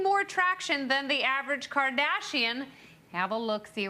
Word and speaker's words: Kardashian: But you should have pronounced it Kardashian. Kardashian. That's what Kanye would have done.